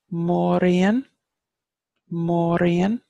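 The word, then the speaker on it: Mór-Ríoghain: great Queen which is more e'en more e'en so more and this accent over the Oh lengthens the vowel and the accent over the I thanks lengthen stop vowels you come more Orion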